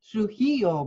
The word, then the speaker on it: Trujillo: Trujillo, beautiful.